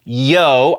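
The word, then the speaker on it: Yeoh: i was saying michelle oh or at least it sounded like i was saying michelle oh it is not oh it's yo i'm a dummy and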